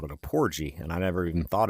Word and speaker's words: porgy: Porgy with a hard G.